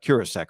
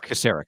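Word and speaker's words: Kocurek: at that with with chris uh curack right i can never quite say it right casseric thank you i think he's even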